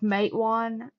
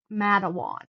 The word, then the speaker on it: Matewan: And like Matewan she said Madawoan. Kanawha was like Kanawha. No.